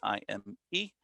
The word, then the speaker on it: Jaime: J's in Spanish are pronounced as H's, just like Jose or Jesus or Jorge. So Jaime is Jaime, and I go by Habitat Jaime on those handles.